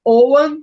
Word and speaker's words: Ogham: pronunciando Owen justamente para dar uma quebra, né?